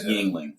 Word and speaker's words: Yuengling: let me take people this man cannot pronounce Yingling to save his life he's been drinking it for at least 10 years and cannot pronounce Yuengling that's a good beer